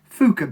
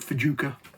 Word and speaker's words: Fjuka: i'm talking about is fuka bait i think that's how you pronounce it um i thought for a while i called it fajuka but fuka bates i think is how they pronounce it um this one